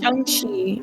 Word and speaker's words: Shang-Chi: It's Shang-Chi. Am I saying it wrong? In the movie they say Shang-Chi.